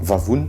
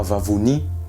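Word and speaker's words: vavony: Estomac, vavoun, pas vavouni.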